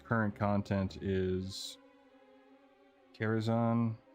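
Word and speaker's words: Karazhan: The only rating I've ever really done when it's current content is Kerazan and Carzan. I can't talk. That's how Medivh or Khadgar pronounced it in the Warbringers and then Harbrer.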